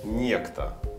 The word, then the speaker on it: Nexta: Живут в Польше и являются модераторами того самого ресурса, который называется Nexta по-английски или же Nexta по-белорусски. Он читается, то есть Некто.